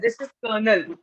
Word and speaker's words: colonel: Because it is written very differently, but the pronunciation is totally different from the way it is written. Colonel. This is colonel.